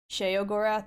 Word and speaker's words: Sheogorath: Okay, now I need a good picture of Sheogorath. There we go, there's a good one. Pesto. When was the last time someone threw bits or subs? Last stream. Last stream was the last time. Sheogorath, not she.